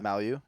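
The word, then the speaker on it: Mailloux: He's projected to be on the Habs for Mayu or however you pronounce his name. Malu. Yeah. Malu.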